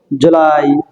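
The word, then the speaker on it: July: এটা May June জুলাই আমরা জুলাই ক্ষেত্রে একটু উটা টান করে বলব জুলাই না বলে জুলাই জুলাই একটু ডান করে বলব ঠিক আছে এরপরে বলতাম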